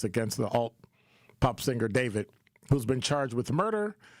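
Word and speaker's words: d4vd: Um, and so David, that's how you say his name.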